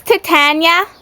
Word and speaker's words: Titania: It's Titania.